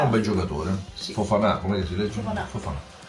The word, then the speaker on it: Fofana: Fofana, come si legge?